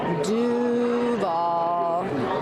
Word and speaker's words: Duval: So, dovall and so you got to make sure you have a draw out that do and then nail the v at the end and you'll fit right in.